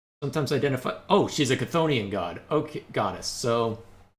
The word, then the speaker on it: Chthonian: So, Pronounced Scythonian, but well, that's what's weird. Battlezone, what we're familiar with, pronounced it Scythonian. Hades, the game I played a while back, pronounced it Chthonic. So, it seems to be tomato, depending on who's making it, for better or worse.